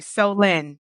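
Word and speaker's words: Solène: pronounce her name and he's like oh so you mean so lend me some money like that's right like yeah so L okay so that actually helped me so thank you so Lynn that is very helpful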